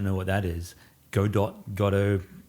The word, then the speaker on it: Godot: those who don't know what that is Godot gato how we pronounce it it's an open-source framework that's been